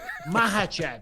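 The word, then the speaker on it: Makhachev: you and vski vovi not bad mahv you don't pronounce k just like khabib and banovski there you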